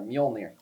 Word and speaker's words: Mjolnir: Mjolnir? Close but no cigar. Mjolnir.